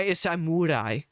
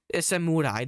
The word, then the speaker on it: samurai: It's samurai. It's samurai. That's how you're actually supposed to pronounce it in Japanese cosplaying right now.